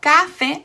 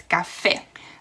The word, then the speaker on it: café: So it's not café, it's café. Okay, and finally, if the